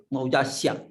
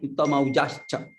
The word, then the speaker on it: Uttamaujascha: Here Uttamaujascha. Not Maujasya. Uttamaujascha.